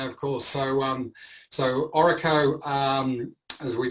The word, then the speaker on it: ORRECO: association yeah yeah of course so um so oracle um as we pronounce it so it stands it's sort of